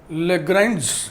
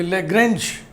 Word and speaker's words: Lagrange: लैग्रैंज mean value theorem, ये लैग्रैंज mathematician का नाम है। इसके दो उच्चारण किए जाते हैं, लैग्रैंज या लाग्रैंज। तो आप लैग्रैंज पढ़िए चाहे लाग्रैंज पढ़िए, ठीक है ना।